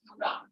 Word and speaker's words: Führer: Actually, that's pronounced as Führer.